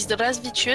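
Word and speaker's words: Здравствуйте: Si tu veux, bonjour, ça se dit Zdravstvuyte, ça s'écrit avec un 3 pour commencer le premier caractère, tu vois.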